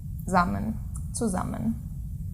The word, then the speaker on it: zusammen: So, zusammen. With buzzing S. Yeah, the S is always buzzing when a syllable begins with it.